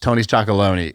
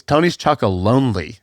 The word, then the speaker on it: Tony's Chocolonely: By the way, I've been saying it wrong for a long time. It's not Tony's Chocolone. It's Tony's Chocolonely.